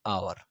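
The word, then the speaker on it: hour: An elephant, an आवर, यहाँ पर एच है लेकिन एच साइलेंट है, इस वजह से हम दूसरे साउंड पर फोकस करेंगे। एन आवर इस तरह पढ़ेंगे।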